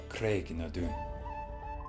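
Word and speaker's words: Craigh na Dun: Today's word is Craignadoun. Craignadoun is the ancient standing stones that Clare passes through to come back to 1700s. Say it with me. Craignadoun.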